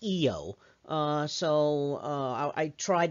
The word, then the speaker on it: Io: the moon eo now i actually learned to pronounce this io uh uh but really it's pronounced eo uh so uh i tried to say it